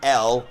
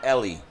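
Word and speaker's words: Elle: Hunter Weber that the the athletes name is l not Ellie so I said it right you said it wrong oh okay yep L like the magazine that's why I failed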